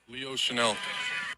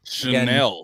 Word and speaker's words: Chenal: I know we've all been on our struggles, and I know that it's not spelled like the fancy brand. But I asked Leo, and he said... Chenal. Chenal.